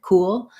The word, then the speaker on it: cool: almost into two parts so it's a one syllable word cool but because of that ooh transitioning to the dark l the all we end up with a little bit of a gliding sound to connect those two so vowel to vowel linking going from a rounded u to an unrounded o before the dark l means that my mouth is naturally going to make that glide ooh cool so that